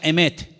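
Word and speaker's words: אמת: conozca la verdad y la palabra verdad en hebreo se pronuncia emet y vamos a ponerla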